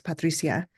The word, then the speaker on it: Patricia: I'm sorry yes and I use the Spanish pronunciation of my name it's Patricia um uh yeah we're